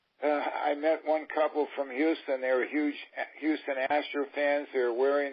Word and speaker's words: Houston: the world of this the proper way of pronouncing it is Houston like they do in New York on Houston Street they like the old the same its Euston and yeah but it's Texas